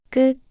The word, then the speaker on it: ㄲ: You make the same sound as ku, but with more tension in your throat.